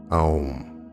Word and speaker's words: Om: Take the sound Om, pronounced as A-U-M, Om.